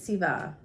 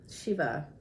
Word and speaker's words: Shiva: equivalent of that is Siva Shiva and why do I say it in two different ways when you say it with the the soft s the sound that's pretty much a South Indian pronunciation the shut can be